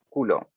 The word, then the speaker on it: Coulomb: es la teoría d culo y acá es una de las muchos se escribe colombo pero se pronuncia culo me faltaron paréntesis secciones